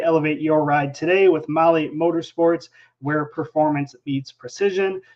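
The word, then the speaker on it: MAHLE: All right, well, let's jump into the Motley Motorsports section here.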